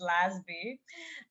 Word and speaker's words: Lasby: And can you please introduce yourself because when I was saying your name, I didn't pronounce it the right way. Yeah, My surname is Lazby and uh I am uh originally from Canada